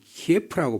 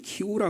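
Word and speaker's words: Київ: 지금 3차 협상을 한다고 그러는데 우리에게는 키예프라고 배웠는데 그 사람들은 키우라 그러더라고요.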